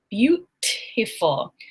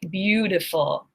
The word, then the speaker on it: beautiful: I do not say beautiful, I say beautiful. That T, because it's between 2 vowel sounds, becomes a D.